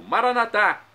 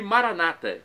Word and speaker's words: Maranata: E agora do aramaico dialeto de Jesus eu clamo, Maranatá, como dizem os católicos, e Maranata, como dizem os irmãos separados, os evangélicos ou protestantes.